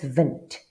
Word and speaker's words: wind: Same word just pronounced differently. Instead of wind, it's vent.